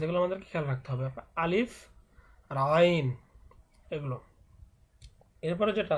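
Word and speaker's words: ألف: আমরা অনেকেই হয়তো বা আলিফ উচ্চারণ করি, কিন্তু এটা আলিফ নয়, এটা কিন্তু আলিফ।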